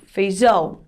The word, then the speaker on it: feijão: Mas quando eu falo feijão, o som do ão dá aquela potência, né? Um som forte, ó. Ão é a sílaba tônica, de tão forte que o tio deixa a sílaba.